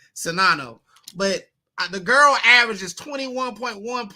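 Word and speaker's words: Czinano: In Monica Sinano, I think is how you say it. Sinano.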